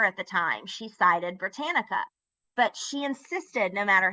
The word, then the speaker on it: Britannica: And for every single speech, and we did 4 at the time, she cited Britannica.